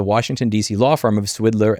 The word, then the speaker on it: Swidler: law firm of Swidler and Berlin, which is very tempting to pronounce as Swindler and Berlin, where he represented individuals, companies, and trade associations in intellectual property rights.